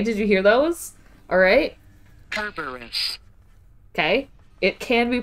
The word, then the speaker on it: Kerberos: Kerberos. Okay. It can be pronounced Kerberos. The original word used is Kerberos, meaning spotted. Roman is Cerberus. Greek is Kerberos.